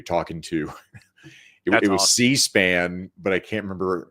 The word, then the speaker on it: C-SPAN: C-SPAN, but I can't remember. He called it Caspan is how he pronounced it.